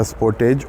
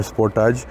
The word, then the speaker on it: Sportage: model of the Kia Sportage or Sportage, because it is pronounced in different ways in different countries. Like in the European market, many people call it the Sportage, but in the American market, people call it the Sportage.